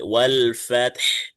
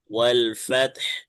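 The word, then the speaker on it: وَالْفَتْحُ: এখন যেহেতু আমি এখানে থামবো, ওয়াকফ করব, তখন আমার এই আলফা। হাটা সাকিন হয়ে যাচ্ছে, বরাবর দুইটা হরফে সাকিন হয়ে যাচ্ছে, দুইটাই উচ্চারণ করতে হবে। তখন এই যে হার শুধু বাতাসটা বের হবে। ওয়াল ফাতহ, ওয়াল ফাতহ।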